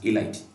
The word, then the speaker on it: ylide: as phosphonium a light when you pronounce this y l i d e has a light now the structure of